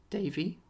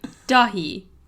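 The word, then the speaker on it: Dáithí: Davy? No. Try again. Daffy. Tom! Dahi.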